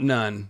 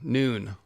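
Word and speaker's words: Nun: Oh, not none. Noon. Noon.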